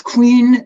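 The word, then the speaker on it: Quene: queen or quinn or i don't know how you pronounce today is it quinn or no it it's queen the reason it's spelled like that is because we have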